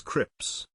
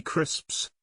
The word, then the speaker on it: crisps: difficult word you'll find a lot of people mispronouncing them as Crips when they should be crisps crisps and in the